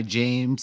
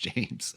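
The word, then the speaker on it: Jeymes: harder they fall by james samuel i think i'm pronouncing it james it's spelled weird but i predict i assume it's pronounced james um but yeah but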